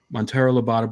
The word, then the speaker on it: Monteiro Lobato: You always pronounce it right. Monteiro Lobato, Brazil, and to do some serious effort in locating him.